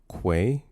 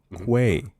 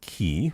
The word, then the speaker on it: Quay: It's pronounced Quay. Say it with me now. With me now, with a Q. With a Q. Quay. What else? Quay. Not what? Not key.